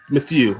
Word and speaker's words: Mathieu: I cannot pronounce his name at all. Matthew. The Honey Badger. Matthew, yes.